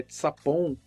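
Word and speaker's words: צפון: O norte, ali, no hebraico, na língua hebraica, e eu vou pronunciar aqui de uma forma bem aportuguesada. O termo norte é tsapon e não fala de uma região geográfica, mas de uma direção.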